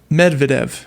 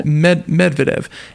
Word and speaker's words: Medvedev: But anyways, he's the former president Dmitry Medvedev, I believe is how you say that. Yeah. Medvedev.